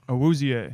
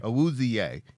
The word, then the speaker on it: Awuzie: This guy Awuzie. How do you pronounce that, Pat? Awuzie. Awuzie.